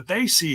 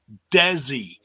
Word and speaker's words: Desi: It's not Desi. It's like he went out of his way to call it Desi. It's not Desi. It's They See Hit Squad.